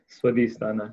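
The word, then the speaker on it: Svadhisthana: i saying it right swan is thana yeah it's however we choose to pronounce it right but it's um i think the correct way is swadisthana yeah well we have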